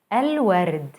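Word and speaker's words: الورد: the dog el wered el word the flowers notice how moon letters allow the l to be pronounced fully i hope this was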